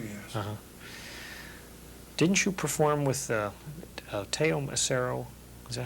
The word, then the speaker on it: Teo: Didn't you perform with Teo Macero? Is that how you pronounce his name?